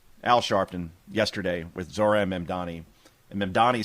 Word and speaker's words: Mamdani: But after he was introduced and this is the way Al Sharpton pronounced Zohran Mamdani's name and again, this is the greatest thing ever. CUT NUMBER 21 GO. ZOHRAN MAMDAMI.